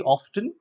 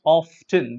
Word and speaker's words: often: The spelling looks like OFTEN, so it should be often. But no, it's not often. This is incorrect. The correct pronunciation is often, be it US pronunciation or UK pronunciation.